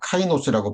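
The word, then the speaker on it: καινός: 카이노스라고 발음이 되는데이 새로운이라는 거는 본질적으로 새로운 겁니다.이 처음 창조에 속한 것이 아닌 하늘에 속한 완전히 영광스러운 영화로운 것들이라는 걸 의미해요.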